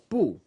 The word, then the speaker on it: 不: You pronounce it pu. Pu. You spell this phonetic B-U.